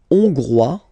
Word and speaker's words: hongrois: La Hongrie, hongrois, hongroise. Okay? Hongrois, grois, hongroise. Okay, so here, final S not pronounced for the masculine form, and then you pronounce it here for the feminine form.